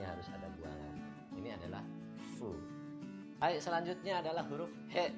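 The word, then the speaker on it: ふ: Tapi dalam huruf hiragana pelafalan huruf hu itu tidak ada. Adanya fu minasan. Hu atau fu ya minasan ya. Tapi dibacanya dalam bahasa Jepang huruf hiragana adalah fu, bukan lagi hu.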